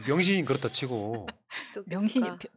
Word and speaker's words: 명신: 명신이 발음을 제대로 해주세요. 병신이 아니고.